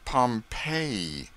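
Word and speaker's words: Pompeii: of Fame the buried city of Pompei they pronounce it Pompei I always had an idea that you went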